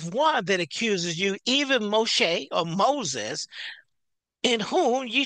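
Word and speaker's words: משה: And so we're talking about the writing of Moses, Moshe. That's the other way. That's the Hebrew's name pronunciation.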